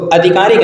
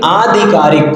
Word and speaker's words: आधिकारिक: होता है अधिकारिक अधिकारिक अभी हमने आपको बताया था कि अगर इ प्रत्यय लगता है तो प्रारंभ में वर्ण को बड़ा कर दिया जाता है तो अधिकारिक नहीं आधिकारिक कहेंगे क्या कहे आधिकारिक ठीक है आगे बढ़ते है